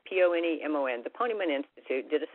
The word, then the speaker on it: Ponemon: So I have a study that I want to tell you about, and I'm probably not pronouncing this organization correctly. It's pronounced Ponemon, P-O-N-E-M-O-N.